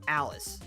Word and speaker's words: Aris: Even when they pronounce her name in game when you hear with the rare case you have it voiced and they say Aris's name it's always Alice.